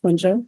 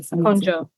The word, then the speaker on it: Konjo: Can you pronounce it for the people, please? Of course. first name, Konjo, last name. Konjo.